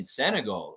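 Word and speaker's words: Senegal: this Tuesday uh Stargate saying senagal okay so Lex is right with how to pronounce the name as they speak French in Sagal yeah I went and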